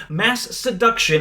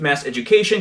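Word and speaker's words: Masseduction: the album charts with Mass Seduction in 2017. Not to be confused with Mass Education cuz that's what everyone says it even today.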